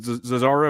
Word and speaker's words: Zozzaro: Is it Zazaro? Is that the proper pronunciation? You nailed it. 100% nailed it.